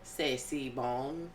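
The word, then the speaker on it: C'est si bon: First, I want to say I'm very impressed with your authentic pronunciation of Sey Bong.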